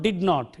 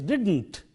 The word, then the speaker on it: didn't: It is not did not, it is didn't, wouldn't, shouldn't, couldn't. those are the weakened forms. The not is weakened into nt in these words, and it has to be said that way. Don't use the full form,